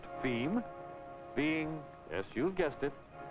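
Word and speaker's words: fim: distribution within Brazil f i m pronounced theme being yes you've guessed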